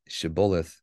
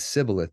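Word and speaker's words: shibboleth: and if you recall Ephraim even back in scripture he could not pronounce shibulith correctly it was sibilith to him and because he couldn't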